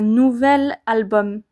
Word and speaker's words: nouvel: avec un seul l on dira donc un nouvel album un nouvel album vous entendez la liaison et vous entendez également la différence entre un nouveau album et un nouvel album c'est vraiment plus simple à dire un nouvel album et la liaison est plus douce à dire et à entendre avec nouvelle alors attention toutefois comme